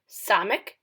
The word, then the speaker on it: Samek: Samek is the S sound.